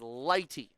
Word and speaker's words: Leite: Check the pronunciation sheet. It is Leite. That's how you pronounce the Dakota State pitcher's name.